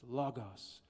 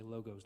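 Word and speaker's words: λόγος: It's spelled logos, but it's pronounced logos, if you want to be fancy. Or you can just say logos like I did till I was like 32.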